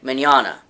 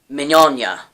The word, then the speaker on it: Mignogna: it with you is vic Mignogna or manyanya how it how he would ask you to pronounce it but you can say to either way when I met him